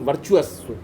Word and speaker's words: virtuous: विट्रियस cycle, जिसको आप spelling बोलोगे वर्चुअस, VIRTUOUS, वर्चुअस साइकिल। कौन सा साइकिल मैंने बोला? वर्चुअस साइकिल, ठीक है ना।